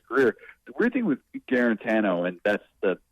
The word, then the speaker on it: Guarantano: times throughout his career the weird thing with guarantano and that's the pronunciation that we were told to switch to